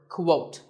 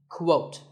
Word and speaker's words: quote: next is the word quote this is not pronounced the same as coat the correct way to say it is with a cool sound at the beginning quote similarly we have quotation